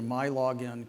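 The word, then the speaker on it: MiLogin: login because in michigan everything starts with mi and you pronounce it my so you go to my login create a login then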